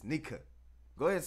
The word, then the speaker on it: Nika: It's not nigga. It's Nika.